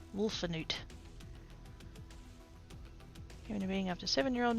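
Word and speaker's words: Wolfenoot: Oh, I've been saying it wrong. There's an in there. Wolfanoot.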